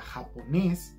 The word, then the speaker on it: japonés: El acento de la palabra japonés está en nes.